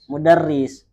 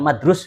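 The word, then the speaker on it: مدرس: Kalau kalimatnya seperti ini pasti bacanya apa? Mudarris. Bukan madrus begitu kan? Enggak. Enggak mesti bacanya mudar mudarris lah.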